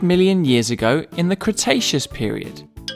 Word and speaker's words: Cretaceous: about a hundred million years ago in the cretaceous period kra tay chess so what have we learned we learned